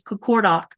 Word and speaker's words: Qaqortoq: And you've probably seen me type this, my town name, which is Qaqortoq. Now, technically it's, hang on, I'll show you something. So it's spelled this way, but technically it's this.